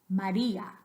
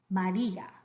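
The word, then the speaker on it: María: day are identical Eldora the next one after me Maria Maria again both of those A's identical we don't want any Maria one more time Maria and the next one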